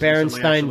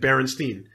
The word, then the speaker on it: Berenstain: what I heard, and everyone said Berenstain. No one said Stain. Yeah. And that was the end of it. But it's spelt with an A and everything.